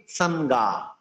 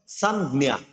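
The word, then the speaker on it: সংজ্ঞা: হবে কি সানগা, সানগা, সরি ভুল বলছি, হবে সানজ্ঞা, সানজ্ঞা। বর্গীয় যোগ এটাকে জ্ঞা উচ্চারণ করতে হবে, বর্গীয় যোগ নিয়কে জ্ঞা, জ্ঞা উচ্চারণ করতে হবে।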